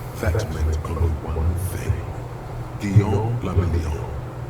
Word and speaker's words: Guillaume Le Million: Guillaume la Million. If it doesn't rhyme, you're not pronouncing it right.